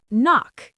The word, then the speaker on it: knock: Knock.